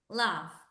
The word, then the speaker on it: laugh: Laugh. Laugh termina en H. Reírse, el verbo reírse. Pero no suena como una H. Suena como una No. F. F. F. Laugh.